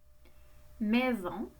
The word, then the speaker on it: maison: Et le S fait Z parce qu'il est entre deux voyelles.